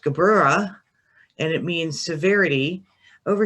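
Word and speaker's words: Gevurah: the tree is going up from this is pronounced gabrera and it means severity over here we have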